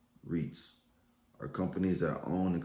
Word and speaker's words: REITs: real estate investment trusts or reits pronounced reits are companies that own